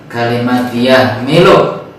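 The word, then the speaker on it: يحمل: H kecil, jadi membacanya lebih dikecilkan lagi. Wa yahmilu arsya, seperti kalimat alhamdu, tadi membacanya wa yahmilu. Kalau misalnya kita membacanya datar, maka akan lebih dekat kepada H besar.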